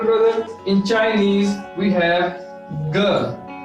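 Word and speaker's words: 哥: Elder brother in Chinese we have ge. How will we pronounce it? Ge. G-E. Ge.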